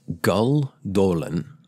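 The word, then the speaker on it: Gül Dölen: When Gull Dolan, I think that's how it's pronounced, it's got the umlaut over the U and the O.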